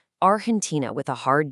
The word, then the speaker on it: Argentina: For example, a native Spanish speaker might say Argentina with a hard G sound, but in English, that sound softened into a J. Argentina.